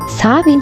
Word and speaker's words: Samhain: In English it is written as Samhain, but in Gaelic, the language of the Celtics, it is pronounced as the Sah-Win festival.